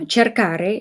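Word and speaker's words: cercare: Otherwise, this will change to change to a soft c. So for for instance it turns into uh cherkare is to to look for or to search for.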